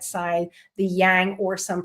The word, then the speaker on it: yang: then the masculine on the right side, the yang or some pronounce it yong side.